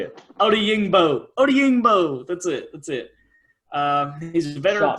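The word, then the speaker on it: Odeyingbo: Odiyingbo.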